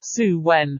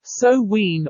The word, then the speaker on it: Samhain: thousands of years to the Festival of sound pronounced suwen so wean or saw when the Celtic New Year's Festival the name means